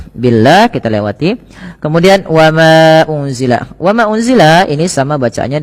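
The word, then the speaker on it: أُنزِلَ: Pada lafal unzila ini ada nun sukun bertemu dengan huruf zai. Apabila ada nun sukun bertemu dengan huruf zai ini, cara membacanya adalah nunnya disamarkan kepada huruf zai ya. Unzila, unzila sembari ditahan dengan dua harakat bunyinya.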